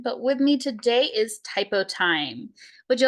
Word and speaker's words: Typotyme: down the line but with me today is typo time would you like to go ahead and introduce